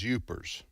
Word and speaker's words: Yoopers: In what state will you find people known as Yoopers? Yoopers? Yeah, like Jeepers.